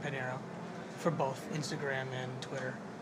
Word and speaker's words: Pinheiro: e RG and then my whole last name Panero for both Instagram and Twitter Panero can you spell that for everyone so e r g p